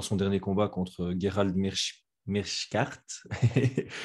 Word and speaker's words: Meerschaert: dernier combat contre Gerald Meerschaert. Je suis belge, je devrais savoir prononcer ça correctement. Meerschaert, voilà. Merci, Kurt.